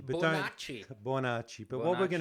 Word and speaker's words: Bonacci: now look how do you say your surname bonach but bonach bonach but what we're going to you have